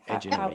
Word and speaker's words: Edgenuity: Am I saying it right? Edgenuity, yep.